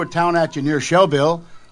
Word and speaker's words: Shelbyville: Shelbyville, you said it right, didn't you?